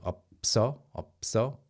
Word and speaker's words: 없어: You have to go connect the two, 없어, and naturally, just because you went from B to S, 없어, it just happens naturally, and the standard pronunciation just reflects it.